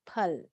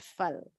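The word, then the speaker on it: फल: when we use sometimes the spoken actual pronunciation should be pul not full but most of the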